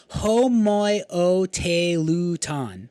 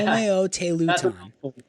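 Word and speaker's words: homoioteleuton: And then there is another one that I wanted to mention, last one, and it's called homoioteluton. 6-syllable word. Yeah, homoioteluton. Yep.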